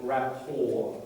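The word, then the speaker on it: rapport: LEL of understanding and rapor that word you don't pronounce the T it's a French word rapor means a good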